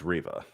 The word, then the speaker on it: Reva: riva and you know i never really knew how to pronounce your name is it reeva is it rev does anyone really know because i hear it pronounced differently in every stream according to if you're actually watching the obi-wan kenobi show it's riva see that's what i